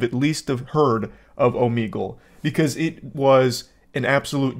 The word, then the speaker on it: Omegle: And only today am I realizing that it's actually pronounced Omegle.